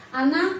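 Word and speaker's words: она: karena tidak mendapat penekanan Ana magla terus Ana Ana Kenapa ana kita menulis Ona Tapi bacanya Ana Kenapa karena O tidak mendapat penekanan karena itu O dibaca a Ana magla O ini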